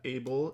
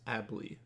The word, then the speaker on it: Abley: For those confused, that's how you pronounce it. It's not Abel, it's not Abel, it's Abley.